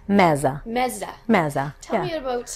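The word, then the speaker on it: meze: And then there is another section that's called, how do you pronounce it? Mezza. Mezza.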